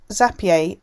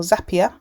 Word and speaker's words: Zapier: have booked that space zapier or zapier depending on how you pronounce it uh kicks in it's